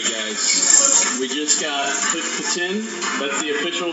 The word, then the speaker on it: poutine: We just got poutine. That's the official pronunciation.